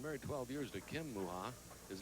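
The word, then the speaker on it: Mucha: Well, he's been married 12 years to Kim Muha. His name is spelled M-U-C-H-A, by the way.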